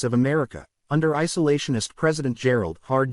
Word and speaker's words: Gerald: The United States of America, under isolationist President Gerald Hard G.